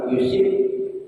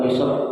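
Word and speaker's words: يُصِبْ: orang baca mayyuridillahu bihi khairan yusib, ya, boleh, atau yusab boleh, ya. Rawahu al-Bukhari wa tabatu yusib bi fathis shadi wa kasriha, tuh, ya. Ini boleh dua cara bacanya, dengan harakat fathah ataupun dengan harakat kasrah.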